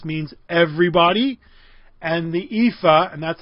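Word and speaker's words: EAFE: so they started their own index called the ephah right and the world index the world index in the ephah the world is x means everybody and the ephah and that's how it's pronounced I didn't make it up EA Fe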